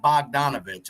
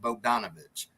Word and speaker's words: Bogdanovich: that right it is it's not bogdanovich I believe it's pronounced Bo danovich correct me if I'm